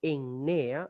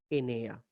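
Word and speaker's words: ἐννέα: Por ejemplo, Enea es 9. Enea, podemos leerlo Ennea, es lo más que podemos hacer, Ennea, pero lo más recomendable, Enea.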